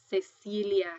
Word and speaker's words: Cecilia: When it is next to an E or an I, it's going to sound like an S. Cecilia. Because you'll see that you see that your C here is next to an E and your C is next to an I, Cecilia So next to an